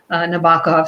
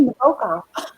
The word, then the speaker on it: Nabokov: I say Nabokov. Nabokov. I say Nabokov, but I think there's a boke in the middle.